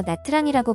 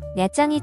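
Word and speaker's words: Nha Trang: 오늘은 베트남 남부에 야짱이라는 도시를 가볼 텐데요 인천공항에서 직항로가 개설돼 있어 직접 몇 장에 들어갈 수 있습니다 내장을 알파벳 그대로 읽어서 나트랑이라고 부르기도 하는데요 야짱이 정확한 발음입니다 당황의 실측만 사람들이 이곳으로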